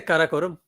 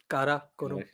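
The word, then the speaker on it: Karakoram: I say kakorum. Kakorum. A little bit of spice on the R there.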